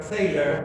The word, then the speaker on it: Thaler: el premio Nobel de Economía, que es Richard Thaler, o Richard Thaler, como quieran pronunciarlo, por sus contribuciones a lo que antes era como blasfemia para los economistas clásicos, ¿no?